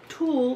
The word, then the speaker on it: tulle: also decided to incorporate some tool in it what's doing that's the way that I normally pronounce it that's the correct pronunciation by the way okay Zulu and I've